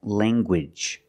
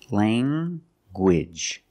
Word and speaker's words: language: hard G sound like language language you have the nasal sound Lang and the hard Gage language Lang anguage I have